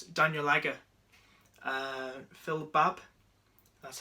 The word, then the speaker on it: Babb: Daniel Agger, Phil Babb, that's how you pronounce his name right.